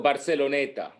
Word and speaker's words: Barceloneta: No, Barceloneta. Oh, Barceloneta. Okay. So people can look it up. Barceloneta is Barceloneta. Barceloneta, like Barcelona, but ETA at the end.